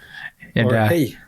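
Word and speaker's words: hej: it going hello hello hey yes we can see here you spell it as h-e-j right yeah it's most common thing to say just hey okay because i'll tell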